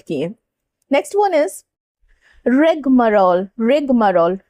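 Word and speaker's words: rigmarole: रिगमरोल, रिगमरोल ऐसे प्रोनाउंस करना है, ठीक है।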